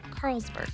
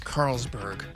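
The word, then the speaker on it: Carlsborg: PS, pronounce it like Carl'sburg. Carlsburg. Carlsberg. It's like a beer.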